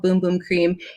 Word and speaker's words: bum bum cream: light's so bright and it's spelled uh bum bum cream but it's called boom boom cream and this is just